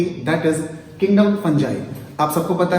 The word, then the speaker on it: fungi: American में इसको फंगाई और ब्रिटिश इंग्लिश में इसको फंगी पढ़ते हैं, बट कॉमनली कुछ लोग इसे फंजाई भी बुला सकते हैं।